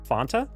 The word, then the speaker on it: Fanta: Fanta. That is how it's said. The commercials are like, "Don't you want to font? Fanta." It's supposed to rhyme with want.